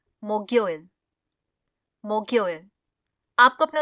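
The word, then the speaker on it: 목요일: Korean में होता है मोग्योइल मोग्योइल आपको अपने उच्चारण पर ध्यान देना होगा इसको हम लोग मोग यो इल बोलते हैं मोक्योइल नहीं ठीक है अब एक बार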